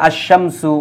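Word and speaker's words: الشمس: লাম উচ্চারিত হয় আবার কিছু কিছু হরফ আছে তাদের পূর্বে আলিফ লাম বসলে আলিফ লাম উচ্চারিত হয় না যেমন যেমন দেখেন আর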